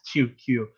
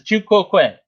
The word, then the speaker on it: tu quoque: So two, I usually pronounced it as tu q, but it's tu quoque.